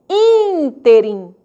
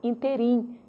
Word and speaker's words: ínterim: E proparoxítonas, antepenúltima sílaba, ela é que será tônica. Ínterim. Ínterim. Nada de pronunciar interim. É ínterim. Acento obrigatório, ok?